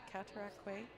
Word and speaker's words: Cataraqui: Country Club in Kingston I actually know the pronunciation of that one because when I played in the travelers Nationals at the Cataraqui Cataraqui okay I always but I was corrected Cataraqui Golf and Country Club